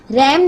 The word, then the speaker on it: RAM: रैम मुखफ़्फ़फ़ है रैंडम access memory का, यानी कि RAM, इसकी फुल फॉर्म है रैंडम एक्सेस मेमोरी, और इसे हम प्रोनाउंस कैसे करते हैं? रैम कहते हैं।